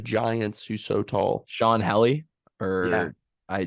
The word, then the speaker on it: Hjelle: Sean Helly Yeah. or I Jelly. I don't know how to say it. It's very Yeah. confusing. It's Hjelle.